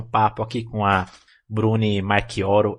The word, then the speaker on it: Marchioro: aqui com a Brunei Marquoro. É Marquoro mesmo que pronuncia seu sobrenome, rapaz. Eu vou te mandar uma paçoca depois, viu que você acertou de primeira.